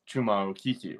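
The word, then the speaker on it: Chuma Okeke: That is how you pronounce Chuma Okiki, right?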